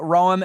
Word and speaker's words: Roem: she is delegate Danica Ram am I saying your last name r pronounce like the city yep thank you so